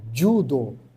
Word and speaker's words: judo: Então o o J no Japão ele tem esse som de DJ, né? Então fica du, né? Judo, né?